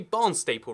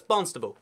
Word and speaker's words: Barnstaple: at this right here, this must be Barnstaple, right? You know, like, it's a barn and it's a staple, easy, you can't trick me with that one. No, it's Barnstable. Like, it's a bee, and then you just say it kind of fast.